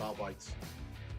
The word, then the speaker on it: Arbites: There's certainly some bite to their cyber mastiffs, but they'll arrest you pretty quickly, unless you call them the Adeptus Arbites. It's R-Bytes.